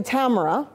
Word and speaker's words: Tamara: matter of introduction my name is actually Tamara rhymes with camera Tamara and I'm